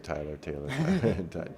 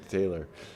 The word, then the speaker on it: Tayler: Okay, so Tailor here, if by the way, Taylor, if I ever say your name wrong, I I keep saying Tyler. Taylor, um he's spinning the four in.